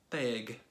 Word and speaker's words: Tegh: People don't usually have a problem with the G, but they have a problem with the T. Okay, so that's that. That's how you pronounce my name.